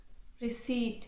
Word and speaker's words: receipt: vehicle not vehicle vehicle re receip not receip be silent here receipt I hope that this